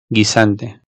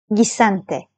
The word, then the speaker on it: Guisante: Araya bir adet u alalım. Ve o u'yu telaffuz etmeden normal g ya da g şeklinde okuyalım. Buraya dikkat, bu yanlış sizin karşı tarafça anlaşılmamanıza sebebiyet verebilecek bir yanlış. O yüzden lütfen bu durumda U harfini kesinlikle kesinlikle okumayın. Şimdi atıyorum Guerra yazmışım. Bunu Guerra diye okumayın. Özellikle bu videodan sonra lütfen yapmayın.